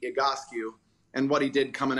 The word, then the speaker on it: Egoscue: with that real quick the agoski method is based on a gentleman named pete igotsky and what he did coming out of vietnam back in 1971.